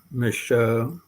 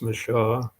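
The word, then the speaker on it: Michaux: Owned by an elderly and longtime nationalist, Louis Mich, sometimes pronounced Michaud.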